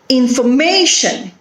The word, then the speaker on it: information: Information. How many syllables are there? 4 syllables. Information. And where is the stress? Information. It is on the third syllable, that is may.